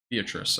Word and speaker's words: Beatrice: Looked up the pronunciation of it. It was. Beatrice.